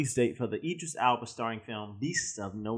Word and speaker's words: Idris Elba: Idris Elba. That's how you pronounce it.